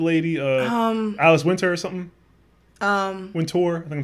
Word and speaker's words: Wintour: Wintour. I think I'm saying her name wrong.